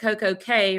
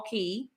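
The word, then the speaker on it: CocoCay: think about it perfect coco k rhymes with day so i agree yeah so i you know there are some who refuse to say k and they call it all key but sherman nobody in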